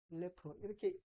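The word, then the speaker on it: אלף: 이거 L래 엘래프 이렇게 읽어요.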